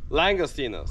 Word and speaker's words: langostinos: hear let's hear Jose say it right now langostinos so this water looks like it's real clear